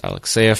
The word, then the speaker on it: Alexeyev: And of course, you can reach me at the Twitter at Alexeyev, pronounced Alexeyev for anyone interested, but of course it's spelled weird, so Alexeyev, and